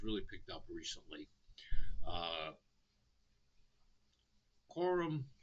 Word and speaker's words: Quorum: A lot of people pronounce it Corium, but it's Quorum. Like Quorum. Anyway, I digress.